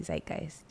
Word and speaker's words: Zeitgeist: that starts with z yeah it's true and it's spelled z i t GE i s t Zeitgeist is that right mhm um but you're right